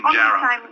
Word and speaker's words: Pinjarra: And just finally, Sandra in Pinjarra. Hello, Paul. Thank you for taking my call. That's all right. I should say Pinjarra. Pronounce it properly.